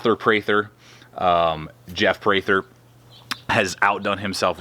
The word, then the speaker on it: Prather: Well, apparently I've been mispronouncing. It's Prather, not Prather, on the war buoy, but either way, however you want to pronounce it, Prather, Jeff Prather has outdone himself with this design.